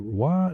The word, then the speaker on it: roi: With the term transforming over time into roi de rat, which is roi, R-O-I, is king. Because formerly French oi was pronounced oui or similar. Nowadays it is pronounced wa.